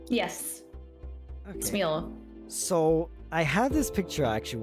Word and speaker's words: Smule: I'm correct me wrong, is it Smule, I believe it's pronounced? Yes, Okay. Smeel.